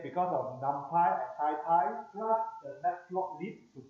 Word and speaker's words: NumPy: how to pronounce because a lot of people pronounce as numpy and numpai. Okay. Uh but the the the most of people they say unless if I pronounce not titan I'll pronounce as numpai.